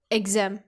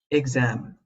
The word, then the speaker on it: exam: I have heard many people mispronouncing it as, exam, so be careful where you stress the syllable. It should be exam. Exam. Some words that rhyme with exam are am, ham, gram.